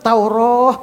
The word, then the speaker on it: Taurah: Taurah itu ada alifnya. Membacanya tetap Taurah begitu.